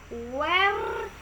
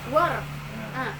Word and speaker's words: were: Where. Bukan where. Were.